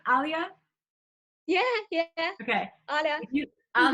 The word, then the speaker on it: Alya: yeah then how do you say your name alia yeah okay oh yeah oh yeah if you